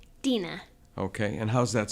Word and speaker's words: Dena: properly how do you say your first name Dena okay and how's that spelled it's DEA it's